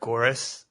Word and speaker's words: Goeres: I say it Goeres. Kind of rhymes with chorus is how I say it to help people out.